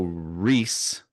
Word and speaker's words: Ries: So Reese, Ries, Reese.